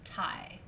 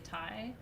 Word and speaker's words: tai: male in ancient egypt is t a i pronounced thai let's say thai so tai is male female is hmt it's